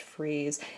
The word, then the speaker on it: Fries: alternate name like maybe spelled like the word fries fr IES but pronounced freeze and but in Gotham